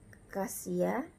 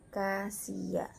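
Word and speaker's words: Cassia: Kemudian SS double dibaca S saja, contohnya Kasia. Nah, dibaca Kasia.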